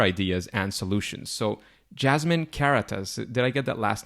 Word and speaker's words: Karatas: So it would be pronounced Karatas in German, but in English it's very good pronounced.